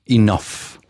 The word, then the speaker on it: enough: Uh, one of the things that I want you to pay attention is the pronunciation enough like an F in there.